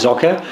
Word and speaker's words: Socke: So the first place I want to start with Socke, because not a lot of people will know